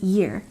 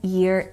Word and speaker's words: year: Remember before about time, which is uncountable, year is countable. We can count years. And pay attention to the pronunciation here. Make sure that you're really making the Y sound.